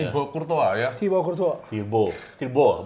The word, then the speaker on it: Thibaut: Tirbo, bukan Tirbois. Thibaut bacanya. Thibaut.